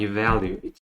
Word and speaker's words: evaluate: Remember the first syllable we have evaluate. So it's the second schwa sound rather than the first schwa sound. So we have the second schwa sound, which is the lazy vowel sound of the short I sound, E sound.